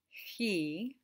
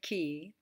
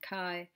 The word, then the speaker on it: chi: which is actually pronounced he you can say ki it's not chi it's not chai it's not kai it's he and you recognize it